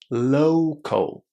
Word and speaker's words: local: Lots of students have a problem with pronunciation here because this word has the O sound in the first syllable. O low. Local.